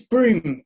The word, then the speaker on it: Brougham: It's Broom, but it's spelled in such a ridiculous way.